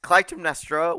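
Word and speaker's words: Clytemnestra: close did I get yeah CLM nestra yes CLM nestra would marry King Agamemnon whose name I was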